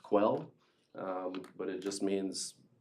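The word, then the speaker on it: Quelle: that just comes from the German word I think it's called pronounced quell um but it just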